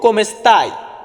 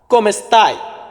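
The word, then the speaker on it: come sta: এটাকে আমরা ইতালিতে বলবো কমেস্তা কমেস্তা ওই কমেটা কিন্তু এখানে উচ্চারণ হয়েছে কম কমেস্তা কমেস্তায় মানে তুমি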